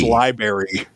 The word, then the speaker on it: library: So you were mispronouncing miscellaneous earlier, and you With just said library. Yeah, no R in library, but you add the C in miscellaneous.